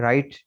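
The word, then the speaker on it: write: Rule number 4 में कह रहे हैं कि W is silent in the following words. दरअसल अल्फाज में W साइलेंट है। अच्छा, ये अल्फाज देखें, W के बाद यहाँ आर, कायदा और कानून निकालें, W के साथ ये यहाँ तक, W के साथ आर है, ठीक है। तो डब्ल्यू के साथ आर मिले आपको, तो डब्ल्यू आमतौर पर साइलेंट होगा।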